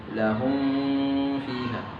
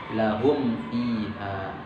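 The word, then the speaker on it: لهم فيها: Yang harusnya dibaca jelas, namun banyak di antara kita, bahkan saya juga mungkin pernah sering tergelincir membacanya dengung. Lahum fiha. Itu salah. Yang benar dibaca jelas. Lahum fiha.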